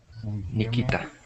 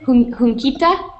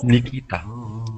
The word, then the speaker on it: Nikita: And could you please help me out with the pronunciation of your name? Yeah, can you hear me? Nikita. What is it? Hunkita? Oh, Nikita.